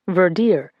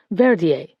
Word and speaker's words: Verdier: Verdier stopped breathing in the ambulance on the way here, the doctor said, pronouncing the name Verdier rather than the French Verier, though no one corrected her.